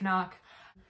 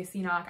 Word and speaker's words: CNOC: It's actually pronounced Knock. Everyone says, a lot of people say CNOC. I even said CNOC, but then my friend told me that he watched a podcast and the creator behind Knock was like, no, it's pronounced Knock.